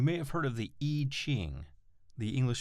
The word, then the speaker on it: I Ching: that oneness you may have heard of the e ching the english spelling is i and then the next word is ching c-h-i-n-g spelled i-ching but pronounced iching this is sort of a map